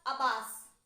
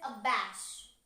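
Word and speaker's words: abash: humiliate shame abands the pronunciation is not a pass it is a bash a bash okay and are emboldened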